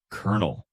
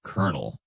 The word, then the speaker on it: colonel: First up, kernel. Spelled with a C-O-L-O-N-E-L, but pronounced like kernel.